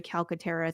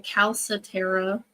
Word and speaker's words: Calcaterra: head oh I I I was saying caletera that's wrong that's okay Cal I'm